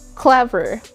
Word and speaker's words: clever: noun or an adjective, we normally place the word stress or the emphasis on the first syllable. Just like clever, clever. Notice that it starts there, clever, and it goes down on the second syllable.